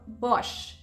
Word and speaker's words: Bosch: say about s mhm it becomes sh so Bosch BOS famous for household appliances another manufacturer for